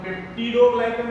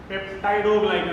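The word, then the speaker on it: peptidoglycan: काही जण पेप्टिडो ग्लायकन म्हणतात आणि काही जण पेप्टाइडो ग्लायकन म्हणतात.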